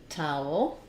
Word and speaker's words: towel: for relevant information um owl has the ow um diphthong which we write in IPA with with these two symbols um and then we have for the El Tau o we have the schwa and the L as I move from the ow to the El Tau Tau there's a little bit of a gliding